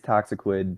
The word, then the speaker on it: Toxiquid: very special guest toxiquid is that how you pronounce it yeah it is toxiquid but uh usually just p people call me